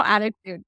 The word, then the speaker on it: ADDitude: Attitude magazine. Is that the way you spell attitude? I always call it ADDitude, but it's attitude, right?